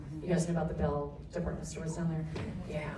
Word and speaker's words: Beall: My name is Bell. The A is silent. Some people call us Beal, right?